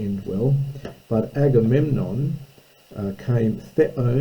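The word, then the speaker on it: θέων: But Agamemnon came theo, notice the accent, it's from theo, to run, not that the gender plural of theos, God, the accent's on the last syllable.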